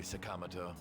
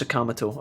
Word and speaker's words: Sakamoto: you seem so carefree sakamoto suck oh yeah sakamito not sakamoto i call him sakamoto but it's sakamato apparently so forgive me forgive